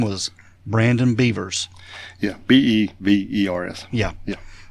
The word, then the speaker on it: Bevers: his name was Brandon beavers yeah b-e-b-e-r-s yeah yeah we spell beaver a little bit different around here but yeah but uh